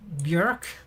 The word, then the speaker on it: björk: Isn't that pretty close to like the English word of like björk? Like the tree? A birch tree? Björk. That's how you say it. That's the proper pronunciation right there.